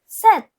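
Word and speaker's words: sept: So seven is pronounced as set.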